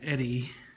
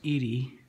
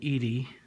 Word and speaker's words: Eady: that my great grandfather William Eddy actually I think it's pronounced Edie William Eady was a it was